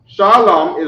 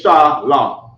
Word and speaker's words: Shalom: in more Hebrew so Shalom shalam is two syllables so here goes an